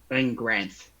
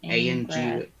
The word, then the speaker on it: Angranth: Angranth. Angranth. A-N-G-R-A-N-T-H. Angranth. Breath you. Okay. You know the Baron can never pronounce any names.